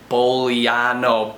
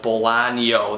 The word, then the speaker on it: Bolaño: Chile by Chilean author Roberto Bolano Bolano there's a Tilda I believe it's called those squigglies over the n and I'm bad at